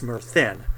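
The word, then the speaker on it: Myrddin: He's taking the character of Merthin, although it's spelled with a double D, it's Merthin.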